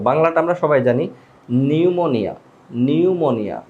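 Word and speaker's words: pneumonia: তো বাংলাটা আমরা সবাই জানি নিউমোনিয়া, নিউমোনিয়া, এখানে পের উচ্চারণটা হবে না।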